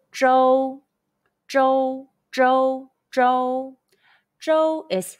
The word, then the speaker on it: Zhou: Zh, O, Zhou. Zhou, Zhou, Zhou. Zhou is state in Chinese. Question. When you see OU in Pinyin, how would you pronounce it? The answer is O.